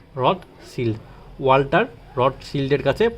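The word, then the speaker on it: Rothschild: এটা অনেকে রড চাইল্ড উচ্চারণ করে। কিন্তু এটা রড চাইল্ড হবে না। Rod seal.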